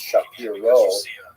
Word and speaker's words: Shapiro: By the way, Rabbi Shapiro is uh is the common English transliteration of his name, although it really would have pron been pronounced Shapiro in Poland.